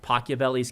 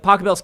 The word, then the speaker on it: Pachelbel: to do different variations on a theme like pochevelli's canon did i pronounce that right um did i pocket belts bells cannon thank you i have pianist over here um so like pachelbel's canon right where a lot of people take